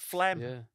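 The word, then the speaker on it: phlegm: You spell it with a PH and a G for some reason. Just call them Flemish. Make it cool. A lot of silent letters in that word, isn't there?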